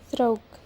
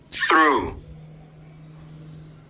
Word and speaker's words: through: So in Indonesia in Indonesia pronunciation it sounds like thro in both American and British pronunciation it is through.